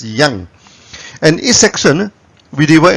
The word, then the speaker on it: yang: people produce it at yank it's up to you but in the original chinese pronunciation it's pronounced as yang and each section we